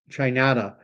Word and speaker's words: Chinada: Danny's writing that I pronounce Chinada to sound like Canada, Chinada.